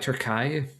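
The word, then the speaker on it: Türkiye: By the way, uh I forget how to pronounce Turkey the correct way, but Turkey uh like their country already went through what we're going through. So something like Turkai.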